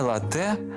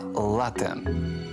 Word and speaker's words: лате: кави Еспресо так ось у цьому слові наголос падає на на перший склад не лате а лате Ось і все насам